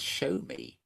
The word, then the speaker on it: Xiaomi: From what I could hear from the voice there, they were pronouncing Exomi as show me. So maybe you meant to pronounce it show me or something.